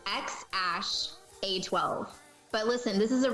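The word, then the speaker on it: X Æ A-12: Okay, I'll pronounce it for you. It's XAsh-A12.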